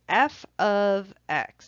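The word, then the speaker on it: f(x): use for a function you'll hear somebody say F ofx that's sort of how this pronounced F ofx this is a function of X function of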